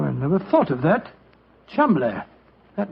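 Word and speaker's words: Cholmondeley: Being an American, he had no reason to know that the name Chuml is in no way pronounced the way it is spelled. Joe, I never thought of that. Chumlay.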